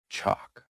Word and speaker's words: chalk: Silent L. Silent L is super sneaky. Walk. Walk. Walk. Talk. Talk. Talk. Come. Come. Come. Half chalk. Chalk. Chalk. Salmon. Salmon. Salmon. Just pretend the L is on vacation.